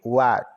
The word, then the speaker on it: What: sua mente o que What o w com o de u o h é mudo o a com o